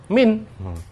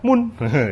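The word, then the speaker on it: من: Itu kita tahu bahwa dibaca min. Bukan dibaca mun, itu ya.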